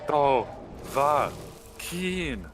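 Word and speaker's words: Dovahkiin: Do va keen is how they say it. I thought they held the keen more, but I mean, you're the one who would know that.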